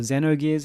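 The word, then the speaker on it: Xenogears: of these games Chrono triger Zeno gears or Zeno gears is how you pronounce it and near UTA asht or Luca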